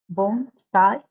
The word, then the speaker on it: bonsai: a Japanese word means Bonsai usually the Bonsai bone side as to be pronounced but it is always misspelled as Bonsai